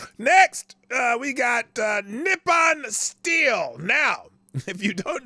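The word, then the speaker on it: Nippon: word Japan so that's that's how they pronounce Japan nepon nepan nepan not Japan it's nepan so apparently um and this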